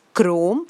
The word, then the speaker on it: chrome: the pronunciation here well CH r om is chrome which means color CH r o n